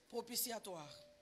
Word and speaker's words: propitiatoire: i r e tu vois les paressux même prononcer répéter ils peuvent pas répéter ça c'est les paressux propiciatoire amen ce sont des mots auxquels tu dois